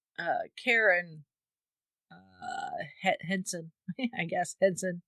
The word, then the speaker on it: Henson: Karen Henson I guess Henson just like Jim Hensen uh spelled the same way so I'm was presuming